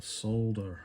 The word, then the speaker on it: solder: the um of the solder action i still don't understand why americans say solder it's got an l in it solder right so if